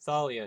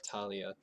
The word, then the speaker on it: Thalia: there yes and monago said it is Thalia not Talia Ryan well I'm gonna